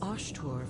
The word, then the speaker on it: Osthur: Why don't you ask the goddess Osthur for her aid in dealing with that barrier over there? osthur. That's how it's pronounced.